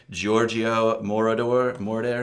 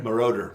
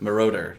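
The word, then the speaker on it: Giorgio Moroder: I'm going to up this pronunciation. Giorgio Mor. Maroder. Marauder.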